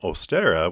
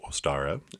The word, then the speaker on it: Ostara: here this beautiful um ostera which ostera is the equinox spring equinox so happy ostera to everyone too or ostara depending on how you want to pronounce it uh we're going to